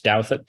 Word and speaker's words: Douthat: I decided to go into journalism, mostly in order to spread the gospel of how you pronounce dowet, so that future generations of doubts would not be burdened with crippling anxiety whenever their kindergarten teacher called on them.